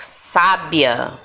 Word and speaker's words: sábia: forte tá agora aliás proparoxítonas as palavras cuja sílaba tônica é o que a antepenúltima né então por exemplo uma mulher sábia Olha isso sábia o sábia teve assento aqui